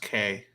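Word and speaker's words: Kei: Yeah, I actually want to buy a Kai car. that'd be cool. I I want to think buy. it's pronounced K.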